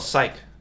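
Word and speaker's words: cyc: This thing right here is called a psych. It is spelled like that. C-Y-C, psych.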